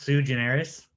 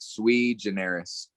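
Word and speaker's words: sui generis: then just took it and it's it's it's pronounced sue generous uh so there's like a there's a few different pronunciations but i just like swede generis yeah squeegeneris it's nice yeah no it's just it's it's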